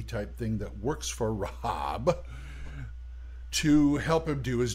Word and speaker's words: Rhb: to a deity called Rob rhb pronounced Rob and basically he was